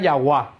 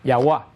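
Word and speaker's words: Yahweh: Dios para siempre entonces algunos estudiosos pensaron que el nombre de Dios se podía pronunciar yahua que es posible que sonara yahua de yahua viene Qué cosa yah y de una corrupción de yahua viene Jehová que no tiene menos que ver todavía pero no es un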